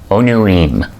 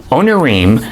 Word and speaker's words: Onirim: Onirim, I took some biblical Hebrew way back when. There are Hebrew words that end in im that are pronounced im.